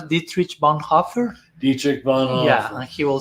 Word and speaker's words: Dietrich Bonhoeffer: I remember, so I think, how do you pronounce Dietrich Bonhoeffer? Dietrich Bonhoeffer.